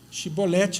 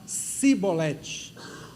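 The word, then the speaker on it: shibboleth: E e aí a Bíblia diz que os filhos de Efraim não conseguiam pronunciar chibolete, eles pronunciavam cibolete.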